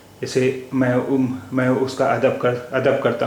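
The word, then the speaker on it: ميم: नाम है मीम और इसकी इसका उच्चारण हिंदी के मा जैसा है मीम अब आय इससे शब्द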